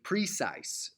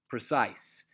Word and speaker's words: precise: say that trochaic lis precise but that word is obviously normally naturally pronounced precise which is I am alright it's a rising word okay and statue statue